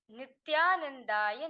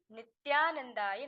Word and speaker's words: Nithyanandaya: Can you please say for me so I know how to pronounce Nithyanandaya in the mantra, please? It is Om Hrim Nithyanandaya Namaha. Okay, Ma Lita? It is Om Hrim Nithyanandaya Namaha.